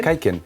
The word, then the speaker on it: Kaiken: It's pronounced correctly? Kaiken? Yeah, Kaiken.